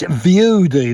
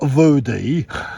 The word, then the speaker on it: View Dee: If you keep saying it wrong, it's View Dee, not View Dee.